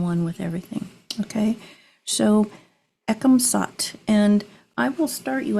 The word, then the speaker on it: Ekam Sat: And this mantra is pronounced Ekam Sat.